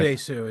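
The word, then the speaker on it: Oh Dae-su: Odesu is his name.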